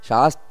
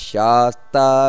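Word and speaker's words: ಶಾಸ್ತಾ: ಅಜೋ ದುರ್ಮರ್ಷಣ ಶಾಸ್ತ ವಿಶ್ರುತಾತ್ಮ ಶಾಸ್ತ ಅಂತ ದೀರ್ಘ ಹೇಳಲ್ಲ ದೀರ್ಘ ಬರಬೇಕು ಶಾಸ್ತ ಹಾಗೆ ವಿಶ್ರುತಾತ್ಮ ದೀರ್ಘ ಬರಬೇಕು ಅಲ್ಲೂ ಕೂಡ ಆಮೇಲೆ ಸುರಾರಿಹ ಅಲ್ಲೂ ದೀರ್ಘ ಬರಬೇಕು ವಿಶ್ರುತಾತ್ಮ ಸುರಾರಿಹ ಈ ರೀತಿ ಅಜೋ ದುರ್ಮರ್ಷಣ ಶಾಸ್ತ ವಿಶ್ರುತಾತ್ಮ ಸುರಾರಿಹ ಇದು ಸರಿಯಾದ ಉಚ್ಚಾರಣೆ ಕೆಲವರು ತಪ್ಪು ಮಾಡುತ್ತಾರೆ ಅಜೋದರ್ಮರ್ಷಣ ಶಾಸ್ತ್ರ ವಿಶ್ರುತಾತ್ಮ ಸುರಾರಿಹ ಸುರಾರಿಹ ಅಷ್ಟೇ ಸುರಾರಿಹ ದೀರ್ಘ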